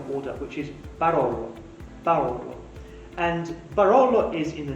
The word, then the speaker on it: Barolo: Barolo.